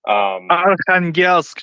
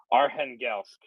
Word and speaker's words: Arkhangelsk: I can never pronounce the name of this damn city. Arkhangelsk, John. Arkhangelsk.